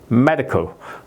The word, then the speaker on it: medical: 이제 말씀 따로도 드렸지만 이거 아를를 한 번에 발음 하면은 이게 아 좀 R 발음이 되기가 쉬운 거예요 그래서 이거를 띄운 겁니다 제가 이제 그 사운 실러블 그래는 제가 항상 이렇게 띄워요 아음 마리 컬 e 컬이 이렇게 발음하지 컬리 발음하면 안 된다 이거죠 리 이렇게 하면 컬리